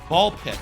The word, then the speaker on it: BALL x PIT: Or sorry, uh Ball X Pit got it. Ball Pit as it's called. You don't pronounce the X. It's like the cross.